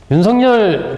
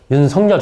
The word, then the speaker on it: 윤석열: 정 의원님, 이렇게 어쨌든 이 윤석열이라고 제가 발음을 하는데, 이 제대로 우리 국어 맞춤법에 따르면 윤석열 이렇게 해야 되는데, 본인이 난 어렸을 때부터 윤석열 이렇게 불러왔으니까 그렇게 불러달라고 기자들한테 이야기를 했기 때문에 제가 윤석열 후보자 이렇게 지금 얘기를 하고 있습니다.